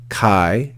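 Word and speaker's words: καί: then have the word Kai again Kai remember one syllable because Alpha Yota makes a diphthong so that's one syllable Chi then we have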